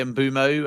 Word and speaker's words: Mbeumo: Yeah, I mean I say ambumo and that's because there's a Premier League video from his time at Brenford at the beginning of last season where that is his pronunciation. I know those that live in Africa say there's kind of a W in there so it's sort of bumo but I say bumo because that is like for like how he pronounces it.